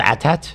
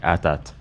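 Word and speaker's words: AT-AT: I think it's supposed to be pronounced atat. Yeah. Well, you can call it's called atat. Yeah, the the creators I think clarified at some point. It's like atat.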